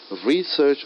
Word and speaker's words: research: you an example like normally in English we stress on the first syllable of a noun and second syllable of a verb so the word of research is a noun I'm stressing more on the word three first syllable research is a noun and research is work so this makes a